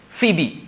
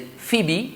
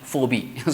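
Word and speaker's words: Phoebe: from the Greek mythology they also pronounce the last e let's like Socrates right Sophocles Achilles Hercules right phibe so P okay p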